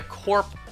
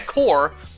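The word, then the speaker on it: corps: The big wigs around here really want to find a corp. Wait, no. The P is silent. Find a core of strong trainers.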